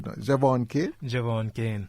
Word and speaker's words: Jevaughn Cain: I hope I pronounce it correctly. No? Jevaughn Cain? Jevaughn Cain.